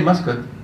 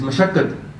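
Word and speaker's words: ਮਸਕਤਿ: The reason we all need to learn how to pronounce Gurbani is because this word up there says Maskat. Yeah? So you can't say Maskat because it's not Maskat, it's Mashakkat.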